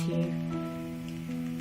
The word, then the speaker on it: Hugh: No, she says Hugh. That's the boy's name. And it actually is a... It's not that common a name anymore, but it's spelled differently than the word hue, meaning color. It's spelled, I always mess this part up. The name is usually spelled H-U-G-H, not H-U-E, but no, she is saying Hugh.